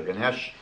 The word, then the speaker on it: Ganesh: Hindu elephant god ganish I think it's pronounced ganish or Ganesh and it was quite